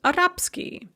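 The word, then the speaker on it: арабский: devoice so for example the adjective arab ski arabic is pronounced arapsky or franzuski french is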